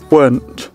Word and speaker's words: weren't: Đúng là có hai cách đọc, nhưng mà cách đọc word thì vẫn cứ sai nha. Cách đọc đầu tiên là với cái phiên âm này, đây là hai cái phiên âm mà Quỳnh lấy trong từ điển Oxford. Rồi với giọng Anh nè, weren't.